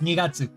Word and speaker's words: 2月: Yes, Nigatsu. What is wrong with me? Why do I keep coughing? Congratulations. Can you figure out how to say, it was February? Nigatsu deshita.